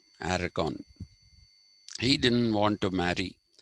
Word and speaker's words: Aragon: to marry katharine of aragon aragon sorry that is the spanish pronunciation aragon he didn't want to